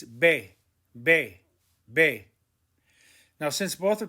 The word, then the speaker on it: ve: ere point number four the v and the b are in green why are they in green because they are pronounced the same bay and bay we don't say they it's bae now since both are